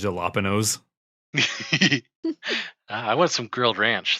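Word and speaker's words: jalapeño: It's pronounced jalapenos.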